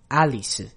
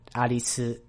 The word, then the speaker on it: Alice: So you could pronounce it Alice or you could just say Alice.